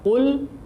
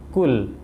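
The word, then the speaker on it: قُلْ: Mestinya adalah qul, kita membacanya kul, ya. Bedanya adalah qaf itu harus ditebalkan, karena kalau kita membaca dengan tipis maka akan terdengar seperti suara huruf kaf, ya.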